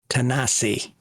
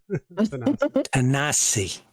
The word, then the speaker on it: Tennessee: And it's pronounced Tanasi. Tanasi.